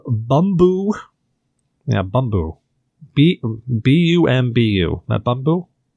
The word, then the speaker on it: Bumbu: But it's called Bumbu.